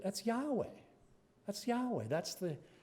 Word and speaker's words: Yahweh: How do you pronounce that? I said, that's Yahweh.